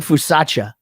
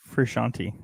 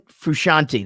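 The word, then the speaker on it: Frusciante: them i don't think how are you pronouncing his last name john fusacha is that not right for kasha no yani fusacha frushanti john fushanti that's right that's what it is and then the other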